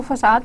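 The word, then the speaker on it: façade: Then we have the फैकेड pattern, ठीक है। कुछ प्रोनाउंसिएशंस में इसको फसाद पैटर्न भी कहते हैं, वरना इसको फैकेड पैटर्न भी करता है, और ये एक आपको फैकेड या इल्यूजन प्रोवाइड करता है, ठीक है।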